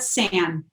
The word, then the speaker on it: SAAN: Did you pronounce it SAAN? Yeah, we call it SAAN. SAAN for short.